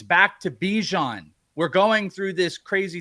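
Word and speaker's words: Bijan: He said, "No, I actually don't like being called Bjon. I want to be called Bejon."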